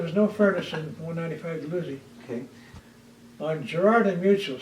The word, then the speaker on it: Dalhousie: Dalhousie, okay, is that how you 195 pronounce it? Dalhousie.